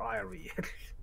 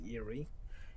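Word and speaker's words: eyrie: kind of nest uh eerie or ire it gives us several pronunciations i don't know which one is right eerie okay google tells me it's eerie it's a large nest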